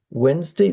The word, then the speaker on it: Wednesday: And number three, um, okay, so number 10 is Wednesday. This one is a spelling irregularity. Um, because the D is silent. The first D is silent.